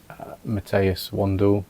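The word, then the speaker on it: Matthias Wandel: So, I'd been watching another YouTube channel, Matteas Wandle, I believe is the right pronunciation, and I'll leave a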